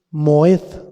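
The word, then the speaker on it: מועד: entiendas no hay otra la palabra fiestas es moed con acento en la e y quiere decir nombramiento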